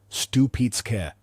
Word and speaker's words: Stupice: Pronounced Stoo-peet-ska.